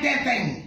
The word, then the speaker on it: Teteng: Pangalan ko po ay teteng Anong pangalan ko teteng Talo tayo sa taas ha Anong pangalan ko yung may lambing naman sa huli Anong pangalan ko para